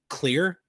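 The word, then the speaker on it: Xlear: sponsor but it's uh it's just called clear I think is is how it's pronounced but it's spelled with an X so it's x-l-e-a-r it's an all-natural nose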